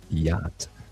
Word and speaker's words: yacht: So if you are phonetically challenged as myself and you've never seen the word that describes a luxurious boat that is pronounced yacht.